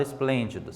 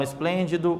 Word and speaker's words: esplêndido: quatro sílabas para a palavra esplêndido certo percebam lá onde está acentuação está em qual sílaba vamos lá sempre do final para o comércio então começa Olá uma duas três então última penúltima antepenúltima sílaba então está acentuada com um acento circunflexo na antepenúltima sílaba como que nós chamaríamos